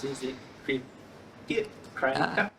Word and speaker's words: Cricut: Is it cricket? It's cricket, like the animal cricket.